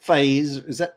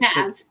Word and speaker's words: Faiz: that has some stature, now they may not like Faiz, am I saying that right? Faz. Faz, shit, sorry. Faz. It's not spelled like that, but that's how he says it anyway.